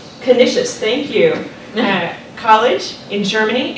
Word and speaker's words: Canisius: And he earned his bachelor's degree from, I should have reviewed my pronunciation. Canisius, thank you.